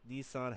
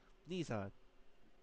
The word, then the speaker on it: Nissan: In Japanese, two is pronounced ni and three is pronounced son, which makes sense. Nissan.